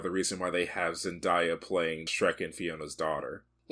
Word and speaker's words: Zendaya: Also, I'm pretty sure it's Zendaya. Oh, I deleted childhood memories for that pronunciation.